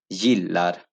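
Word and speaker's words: gillar: में जो दिया था ये वर्ड यिल्लार, यी ल आर, यिल्लार, क्योंकि आई इज सॉफ्ट वाउल इसलिए इसको य पड़ जाएगा, ग या ज नहीं पढ़ा जाएगा, इसको य पड़ जाएगा, यिल्लार।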